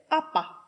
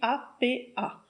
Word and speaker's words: apa: L'expression locale, ça va être APA, ça s'écrit A-P-A.